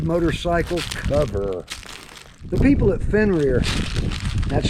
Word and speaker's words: Fenrir: The people at Fenrir, that's spelled F-E-N-R-I-R, reached out to me and asked